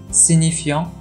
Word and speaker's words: signifiant: フランス語の発音はシニフィアン、シニフィエ。